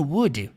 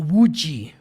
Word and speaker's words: Woody: Bom, como vocês podem perceber, eles não pronunciam Woody igual no português, né? No filme dublado eles falam Woody, Woody. No inglês eles falam Woody, Woody. É uma característica muito comum do inglês americano. Afinal, o filme a história se passa em solo americano. Então, Now, Woody. é muito comum levar o som do D ao som do R.